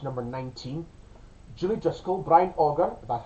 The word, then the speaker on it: Auger: Julie Driscoll, Brian Auger, that's how you say it, and the Trinity,